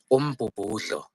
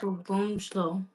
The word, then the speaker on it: umbubudlo: So that DLO, um, it's gonna be tough for you, but DLO, you pronounce it as lo. Slow. Okay, how can I make it easy? Okay, that word is umbubudlo.